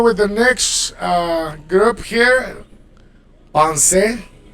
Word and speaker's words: penser: the next group here, pensez, to think. You pronounce the e. In French, it's not really like the Spanish e, but it's more like the like a schwa, accented schwa. Penser, demander, all right, to